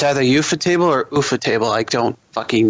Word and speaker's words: Ufotable: I don't know how to pronounce it. It's Ufotable.